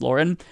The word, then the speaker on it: Lauren: you pronounce her name i've been saying laura bilbert for the longest time i just found out recently that it's lauren it doesn't matter uh